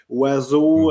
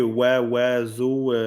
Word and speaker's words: oiseau: En fait, c'est parce que chaque lettre qui est mise dans ce mot-là n'a pas sa prononciation initiale. Tu n'as pas le O, tu n'as pas le I, tu n'as pas le S, tu n'as pas le A, tu n'as pas le U, tu n'as pas le A, X.